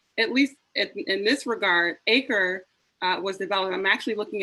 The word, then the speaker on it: 8CRE: It's an acronym starting with the number 8, followed by CRE, pronounced ACRE.